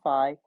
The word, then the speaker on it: phi: know from you pick i've heard it pronounced two different ways fee and phi i tend to pronounce